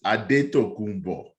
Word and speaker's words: Antetokounmpo: Giannis Antetokounmpo, No, we and gotta say his name correctly for the you tell record. me how to say it correctly. Giannis Adetokounmpo.